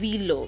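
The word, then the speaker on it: Wilo: Actually, it's supposed to be pronounced as Willow because it's a German brand, yeah?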